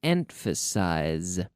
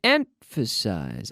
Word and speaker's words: emphasize: emphasize I fit in cap ba in to emphasize to emphasize I emphasized the first syllable to emphasize I would like to emphasize